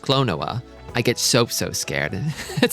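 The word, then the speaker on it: Klonoa: When Clown says things like, it's pronounced Clonoa, I get so scared.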